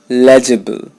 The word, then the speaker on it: legible: his usual political humbug legible not legible legible I know there is an eye there but you're not going to pronounce it it's legible there's no e sound in this word legible if one is